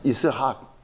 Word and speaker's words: 이스학: 그래서 이삭이 웃으면 이스학, 발음은 이스학입니다. 이스학이 웃음이란 뜻입니다.